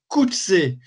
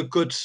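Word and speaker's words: Coetzee: prière de dire John Kutse. Kutse, c'est un patronyme africain, c'est le O-E se prononce ou comme en néerlandais, comme la guerre des bourgs, etc. Donc, pas de Kotse, de Kutz, de.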